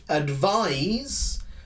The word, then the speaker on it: advise: next one which is very similar but of course pronounced a little differently advise is a verb yes